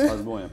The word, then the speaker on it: Strasbourg: Ah, on dit Strasbourg, on le G, on ne prononce pas en fait.